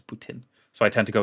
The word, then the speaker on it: poutine: I have a friend from Montreal, and apparently the correct way to say poutine isn't poutine, it's Putin.